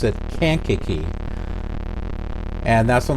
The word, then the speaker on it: Kankakee: call it kenkaki did you pronounce it as kinkaki uh i pronounced it as kinkaki for a long time and then um when